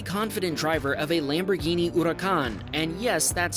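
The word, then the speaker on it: Huracán: was the very confident driver of a Lamborghini Huracan and yes that's how you pronounce it they pulled up next to each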